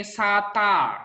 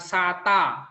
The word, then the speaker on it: satta: new tampan Oya ini satta satta nanti bacanya bukan Sata kata-kata Berarti ada hanya